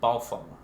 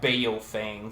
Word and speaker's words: Baofeng: It's Chinese. And it's actually, the actual enunciation is Baofeng. Okay. But yeah, Baofeng for us Americans that can't speak Chinese. Okay, so here we are. That's Baofeng.